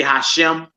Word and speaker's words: Hashem: We not scared to pronounce the name of our God. Yeah, they say Hashem.